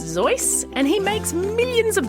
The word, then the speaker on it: Seuss: the zizz as his middle name is actually pronounced zoy and he makes millions of dollars every year